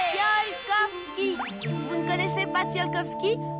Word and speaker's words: Tsiolkovski: Ça se dit Tsiolkovsky.